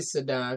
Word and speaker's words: Sidon: It's really Sidon because the Z is normally, we kind of pronounce it with the S.